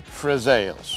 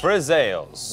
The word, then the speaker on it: friselle: more time so we can all get the pronunciation correctly today we are making frels frels yes also known as pepper biscuits Italian pepper